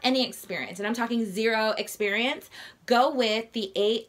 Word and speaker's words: Xero: as I mentioned before the accounting software is zero spelled with an X is an alternative to QuickBooks zero was founded in New